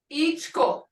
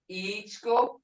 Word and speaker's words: ichko: Ichko. Dried corn as in feed. Ichko, feed. Hear it? Ichko.